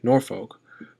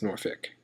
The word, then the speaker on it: Norfolk: Most people say Norfolk, but if you grew up in this region, it's Norfolk.